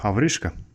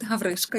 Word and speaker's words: Havryshko: Hello and welcome, Havryshko. Yes, Did I pronounce it right? yes, correct. Havryshko, yes.